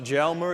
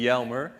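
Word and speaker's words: Jelmer: Well, in the Netherlands, you should pronounce the J as a Y. So, it's not Jmer, it's actually Yelmer.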